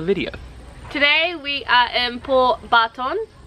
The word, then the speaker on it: Port Barton: today we are in poor Barton Barton or poor pronounce it that way for you guys because when we asked to go to port barton no one knew what we were talking about so when you ask